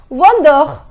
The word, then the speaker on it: vendeur: The pronunciation is vendeur.